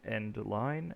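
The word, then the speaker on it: endl: see it it's pronounced c out this is pronounced end line and it says hello world so let's see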